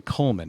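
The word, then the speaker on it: Cullman: come across this company down in Coleman not Coleman like the the camping gear Coleman it's the spell it's c-u-l-l-m-a-n and it's about um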